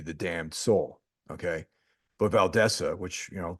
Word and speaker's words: Valdese: Damned Soul okay but valesa which you know think that's a better way of pronouncing it than Valdez you know valesa better way you I think that's the correct way of doing it um that and she